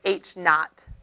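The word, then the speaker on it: H₀: the previous page and we call it h subz but it's h not is how you say that in physics you use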